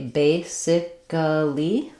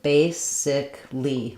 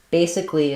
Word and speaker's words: basically: Did you say basically with 4 syllables, or did you say basically with 3 syllables? Basically is correct. We only say 3 syllables here. It sounds like the word base plus ick plus ly. Basically.